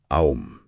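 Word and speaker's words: AUM: Esotéricamente enfatiza con mucha fuerza que la verdadera pronunciación no es con u, sino con o. El mantra es aom.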